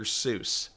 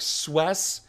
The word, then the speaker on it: Seuss: So as Leslie gets these last piece in there, I know that the pronunciation is not Dr. Seuss. I know that it's actually a different, it's like Swess or something, because his widow actually came out and said, that's not how you pronounce it.